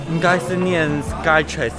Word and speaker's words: Skytrax: I think it's pronounce as SkyTrax...